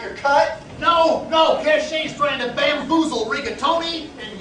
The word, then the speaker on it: Cache: No, it's pronounced Cachet, yes.